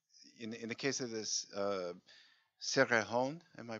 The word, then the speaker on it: Cerrejón: I was wondering from Claudia that whether in the case of this Cerrejón, am I pronouncing it right? Coal mine. The Cerrejón?